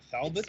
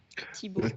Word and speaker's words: Thibaut: Thalbot? It's pronounced Thibaut. Thibaut.